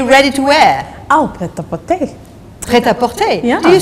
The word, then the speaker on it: prêt-à-porter: Oh, prêt-à-porter.